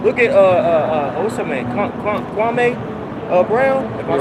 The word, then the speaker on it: Kwame Brown: Kwame Brown.